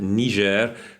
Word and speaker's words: Niger: I think that's how you're meant to pronounce it.